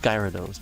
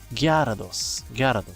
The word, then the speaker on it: Gyarados: do you say that it's not Gyarados because it's there's a gya it's not a silent a it should be Gyarados it should be Gyarados in Spanish and also against his